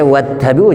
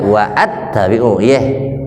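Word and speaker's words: وَاتَّبِعُوا: Wattabi'u bacanya wattabi'u, jangan wa'attabi'u.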